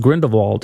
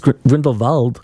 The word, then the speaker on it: Grindelwald: That's what the Crimes of and it's not even pronounced Grindelwald. It's Grindelwald. They pronounce it totally different in the movie than what everyone says on TV.